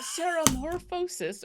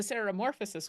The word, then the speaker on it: ceremorphosis: tentacles so it's the ceremorphosis or the sorosis weekend however you want to pronounce it if you want the